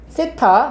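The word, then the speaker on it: θ: 세타, 이거 세타라고 읽어요.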